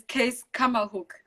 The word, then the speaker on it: Keiskammahoek: to pronounce this name, Keiskammahoek. Was it? What is Keiskammahoek? Where is this place? It's Keiskammahoek. It's Afrikaans slash German, actually, since Afrikaans does derive from German.